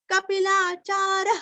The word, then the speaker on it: कपिलाचार्य: महर्षि कपिलाचार्य, कपि का पीरस्व, कपिलाचार्य, यहाँ पे भी सांस अंदर लेना है और पेट अंदर लेके सांस बाहर छोड़ना है। कपिलाचार्य कृतज्ञो, कृति का कृ,